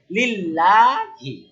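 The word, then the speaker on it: لله: এলামে কি আছে? জের। তাহলে এই লামটা কি হবে? পাতলা লিল লাম লাম যে লিল লাম খাব লা লিল্লাহি কি হবে লিল্লাহি মানে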